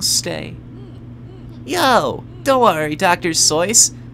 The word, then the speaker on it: Seuss: Seuss. That's how it's pronounced, by the way. Seuss, not Seuss. It was just easier to say. Seuss was just easier to say in English.